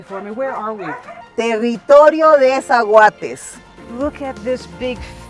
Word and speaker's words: Territorio de Zaguates: Territorio De Zaguates.